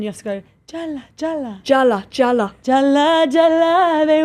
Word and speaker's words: Jalla: Of Jalla. Please. Yeah, you got to say it right though first. Jalla.